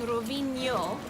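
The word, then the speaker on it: Rovigno: Rovinj and Rovinjo, it's the same ñ sound, that ñ, like the word onion in English. So if you can say onion, you can say the name of this town.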